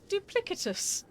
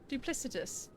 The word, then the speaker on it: duplicitous: pronouncing that word alfarious did she say duplicatus sounded like duplicatus duplicitous like duplicity with a s sound this isn't this isn't